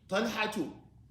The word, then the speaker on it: طلحة: We pronounce it with one dhamma. طلحة.